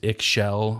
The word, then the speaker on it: Ixchel: I would say if you're thinking about going there, look up I believe it's pronounced Ixchel Hotel. It's IXCHEL.